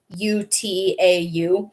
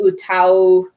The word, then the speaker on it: UTAU: an utau that's spelled u-t-a-u it's pronounced utau because utau i'm i hope i'm pronouncing that right it's it means sing in japanese and they're kind of